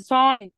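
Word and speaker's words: sign: طيب ايه تاني قال حرف الجي حرف الجي فين في ساين في ساين انا ما بنطق الجي خالص طيب معظم البرشن معظمهم مالهمش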